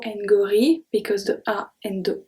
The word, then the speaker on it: gorille: So if G is followed by A, O, or U, it's going to stay a hard G. We have un gâteau, un gâteau, gâteau, un gorille, un gorille.